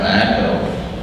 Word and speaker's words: EQO: we finally landed on Echo. But of course, all of the domains were gone except this one that said EQO. So we bought it, only to realize that everybody and their brother would actually pronounce it in the wrong way.